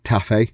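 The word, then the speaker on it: Taaffe: Blake Taffy, I believe his surname is pronounced, or Taff, as it has been pronounced by the compare, or the announcer, should I say, took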